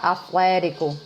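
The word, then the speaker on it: Athletico: Já se conversa que Flamengo e Atlético, eu acho que a gente tem que pronunciar Atlético como se pronuncia em inglês, né? Porque agora é com TH, Atlético, né?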